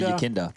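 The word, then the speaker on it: Yekindar: How are we pronouncing that? Yakinda? I'm just going to say Yakinda. Yakinda. Yeah. Yakinda. Yeah, like as in it's your Kinder Egg. Yakinda. Like a Kinder Surprise.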